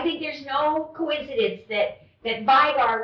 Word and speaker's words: Vigar: I think there's no coincidence that Vigar rhymes with tiger.